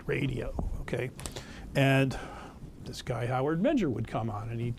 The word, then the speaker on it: Howard Menger: Anyway, but I remember hearing about Howard Menger. That's who we're going to talk about. Howard. That's how you say his name, by the way, Howard Menger, on the radio when I was in the 60s.